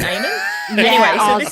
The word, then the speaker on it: Eamon: Iman. And this is actually, see, I say Eamon because we've got an Australian swimmer. Oh, get to your point. And he pronounces it Eamon.